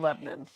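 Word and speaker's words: Lebanon: is 30 minutes from my home and it's pronounced Lebon that's right Lebon some of my close friends went to school in Lebon in fact my new kids friend Karen is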